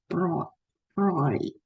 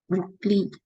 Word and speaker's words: Broglie: Okay, even Albert Einstein and Louis de Broglie, in French, they I think pronunciation is Broglie. or whatever. But some people will pronounce in English name Broglie, Louis de Broglie, whatever.